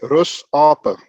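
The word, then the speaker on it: Rusape: a teacher at school we pronounce it afrikaans way rus apa so in english rest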